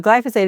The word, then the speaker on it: glyphosate: Well, glyphosate is the correct pronunciation, but it's a hard word to pronounce.